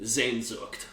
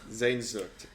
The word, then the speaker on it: Sehnsucht: How do you pronounce it? Sehnsucht. Sehnsucht.